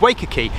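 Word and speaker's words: Wacker Quay: liner oh luna don't never know where to pronounce it it's waker key and the reason it's uh of strategic importance is because this was the terminus of the waker key to schrazed and fort military railway first came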